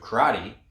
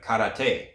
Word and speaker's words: karate: You have karate, which is the Okinawan pronunciation, and then you have karate, which is the Japanese pronunciation.